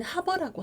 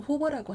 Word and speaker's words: hover: 영국식 발음으로는 하버라고 하고 미국식으로는 호버라고 하니까 자유롭게 사용하세요.